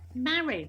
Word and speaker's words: Mari: You know, oh, you mean Marie? No. Anyway, so Mary, because it's a bit unusual. So, or they say Mari. No, Mary, rhymes with Harry.